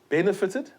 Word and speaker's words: benefited: Please note, benefited, the stress is not on the final syllable, so the T will not be doubled.